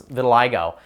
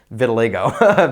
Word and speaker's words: vitiligo: underneath a new word like that the simple pronunciation guide cuz when I read it initially, I was saying vitiligo. Vitiliggo.